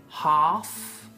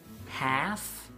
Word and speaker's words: half: Half. Or half, y la L no se pronuncia.